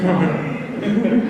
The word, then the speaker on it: Maher: Someone like Bill Maher, or Bill Maher, proper Irish pronunciation is Maher.